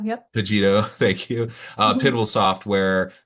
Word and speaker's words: Cogito: Cogito. Yep. Cogito, thank you.